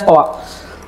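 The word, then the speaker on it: Stoic: yaitu stoa stoa H tulisannya s o i c stoik stooik ya He tapi dibacanya stoa jadi e sebenarnya stoa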